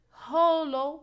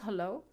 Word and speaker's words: hollow: second syllable we have here Hollow it's not hello it's Hollow so because of the o sound we cannot stress it so we will put the stress on the first syllable for the word lovely